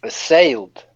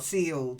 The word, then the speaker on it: sailed: of it happening okay then sale sailed try it sailed sailed that's it not sealed seal is eal sale is ail that again sale not seal sale sale that's it then floor a floor